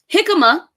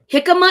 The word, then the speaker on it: jicama: So jicama is one of the foods. Jicama is spelled Hicama. Jicama.